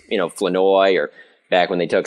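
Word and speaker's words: Flournoy: a Jaylen Tolbert or Ryan floro or or sorry Ryan floi or Jay haven't gotten that right yet I'm still I'm still working on that pronuncio yeah floi well he said it was fine when we asked him when right after he got drafted but since come to find out it's floi but anyway so I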